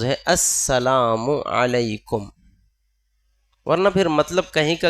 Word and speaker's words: السلام علیکم: اس لیے ہمیں اہتمام کر کے یہ سیکھنا چاہیے، ہماری ذمہ داری ہے۔ صحیح تلفظ ہے السلام علیکم، ورنہ پھر مطلب کہیں کا کہیں چلا جاتا